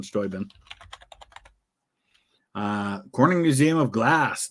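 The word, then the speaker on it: Steuben: pronounce it there like we pronounce it Stubenville the town in Ohio that's named after the same guy that stuben County but his his name was pronounced stoin Baron von stoin uh Corning Museum of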